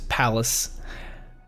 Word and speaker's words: Pallas: That is Palace Alchemist Shop, and it's spelled Pallas.